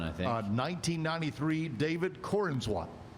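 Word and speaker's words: Corenswet: Uh 1993, David Corinsswat. Uhhuh. Is that how you say it? Corwat.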